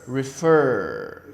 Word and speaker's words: refer: This verb, refer. You see the stress is in the last syllable. Refer. Not like refer or something like that. It's refer. The stress is on the last syllable.